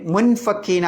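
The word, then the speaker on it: مُنفَكِّينَ: പറ്റിയത് അതാണ് എങ്ങനെയാ ഓതേണ്ടത് മുൻ ഫക്കീന എന്നോ ആ മുൻ ഫക്കീന മുൻ ഫക്കീന മുൻ എന്നാണോ പറയുന്നത് മുൻ എന്നാണോ പറയുന്നത് രണ്ടിന്റെയും ഇടയിലുള്ള ഒരു ഉച്ചാരണം മുൻ എന്ന് മീം ആക്കി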